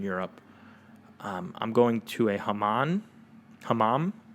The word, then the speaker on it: hammam: Hammam pronunciation. Let's see if I was right. Hammam. Fuck yeah, hammam. So it's like you're saying, huh, Mom? What'd you say, Mom? Clean your room, huh, Mom?